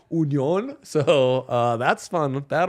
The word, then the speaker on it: Union: called Union Berlin but we gotta go on Union because that's the German pronunciation they're not Union they're Union so uh that's fun